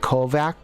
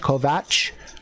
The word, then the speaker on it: Kovach: must not understand that kovac is is is like a slavic or russian name so it's spelt with a ch kovach but it's pronounced kovac and that's basically what